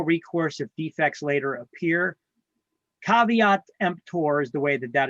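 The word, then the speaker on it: caveat emptor: list later as well it's not pronounced K EMP it's pronounced cavat empor it means let the buyer beware in Latin look at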